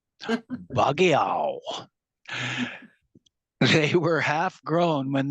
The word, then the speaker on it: Bagao: Padri brought 2 male cats named Ali and Bagao, which rhymes with meow. Bagiao. They were half grown when they came. But Bagao was the friendlier of the two.